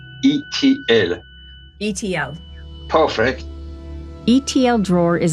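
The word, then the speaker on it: Itiel: Extraterrestrial, so just add the letter L, so it's pronounced E.T.L.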